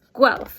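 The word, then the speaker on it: Guelph: the book here it says the city of gal it's a real place and it is pronounced gal I attended the University of gu back in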